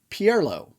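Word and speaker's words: Ciel Pierlot: properly so it's uh first name is c-i-e-l-seal uh pierlo p-i-e-r-l-o-t and it is lesbian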